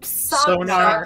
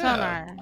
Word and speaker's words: Psognar: Sonar. Sonar. Sonar. Sonar? Yeah. Sonar.